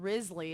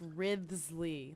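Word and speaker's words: Wriothesley: because no it's not Risley it's Risley like that wow that when you say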